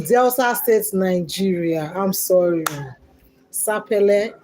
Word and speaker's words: Sapele: Sappel. Sapple. That's how you spell. Just pronounce it. Sapp.